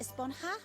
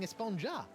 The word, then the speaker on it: Esponja: huh actually it's pronounced espanha with an h sound at the end really but we've all been saying esponja yes i know it's